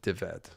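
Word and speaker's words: Dyfed: Kind of like my name David but just crammed together. It's spelled ded, but it's more of a V sound. Deveted, something like that.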